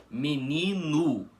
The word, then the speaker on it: menino: Porque vocês podem reparar que nós não pronunciamos menino gosto com a letra O com som de o mesmo, um fechado, o invés disso, pronunciamos com som de u. Assim, menino gosto.